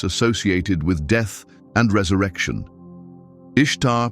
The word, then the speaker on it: Ishtar: Ishtar, pronounced somewhat like Easter, was the goddess of love and fertility.